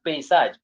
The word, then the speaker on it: paysage: So we say this word is now read as paysage. Pay, not pa, paysage. We have a country. You see this word is read as pay. Pay, pay, pay, pay, pay.